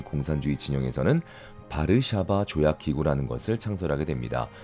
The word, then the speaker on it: 바르샤바: 중심으로 한 공산주의 진영에서는 바르샤바 조약기구라는 것을 창설하게 됩니다 영어 약어러는요 wto라고 하는데 이때 w가 B 발음이 나는 것이죠 그래서 바르샤바 쥐약 기구가 되겠습니다 지금은